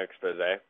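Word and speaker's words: Exposé: I tried using the installers expose um wi expose which I figured out that is how you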